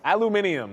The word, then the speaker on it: aluminium: Like, it's Aluminium, as I should be saying, as I've been told over and over again. That's the proper way to say it. The British way.